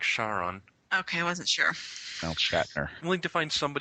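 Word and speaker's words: Charon: sense doesn't anybody know if it's if the moon's pronounced char on our char on do you know if it's a sure shot I think it's char on is it char on Cheryl it's more like Sharon okay I wasn't I'll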